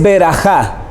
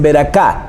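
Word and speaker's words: ברכה: La palabra hebrea para bendición es berajá. Berajá. Algunos lo pronuncian con K y dicen beraká.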